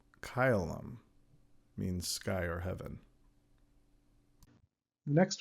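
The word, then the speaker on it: caelum: So, the first combination ae is pronounced like I in isle. So, in a Latin example, kyum. Kyleum means sky or heaven.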